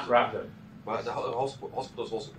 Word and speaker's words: Radboud: Okay, so this is some work by Victoria Paya, who's now in Radboud University in give me the right pronunciation. Radboud University. Say it again. Radboud.